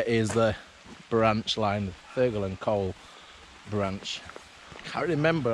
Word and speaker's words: Thurgoland: Now, Thurgoland, but I think it's pronounced Thurgoland. Just roll off the tongue.